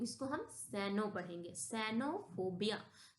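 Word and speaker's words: cenophobia: Vowel आता है तो हम उसको सा से प्रोनाउंसिएशन करते हैं। ओके? तो यहां हम सी इ एन ओ इसको हम सैनो पढ़ेंगे। सैनोफोबिया।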